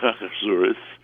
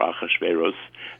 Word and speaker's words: Ahasuerus: in costumes, usually Haman, King Ahasuerus, or Ahasuerus, as I was taught when I was a kid. The pronunciations have changed.